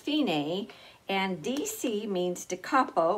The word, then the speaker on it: Fine: in tight a word and it means it's pronounced fini and DC means to capo which literally means